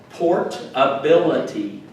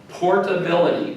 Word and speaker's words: portability: next one is portability port ability portability portability portability and that emphasis is on the bill portability right good very good